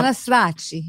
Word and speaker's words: Cannistraci: Cannistraci That's it. See? Farrell. Yes. Okay. Thank Now, you. however, you also have an Italian way of pronouncing it, which sounds wonderful. Yes. How- Cannistraci.